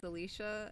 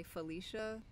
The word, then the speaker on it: Alicia: wrong a lot like it's alicia and a lot of times people say felicia i don't know who